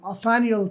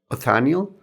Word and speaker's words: Othniel: But it follows the exploits of two crazy paleontologists, Othniel Charles Marsh and Edward Drinker Cope.